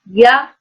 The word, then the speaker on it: yaourt: Y comme yaourt, the word for yogurt, but it's yaourt. The T is silent.